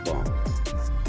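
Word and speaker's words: bomb: बी ओ एम बी इसको हम बॉम्ब नहीं पढ़ेंगे इसको बॉम्ब फिर उसके बाद हम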